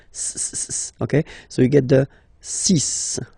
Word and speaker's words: six: be careful here because even if it's ending with this x well you'll have to pronounce it like s okay so you get the sis pronunciation sis okay so it's not six it's sis all right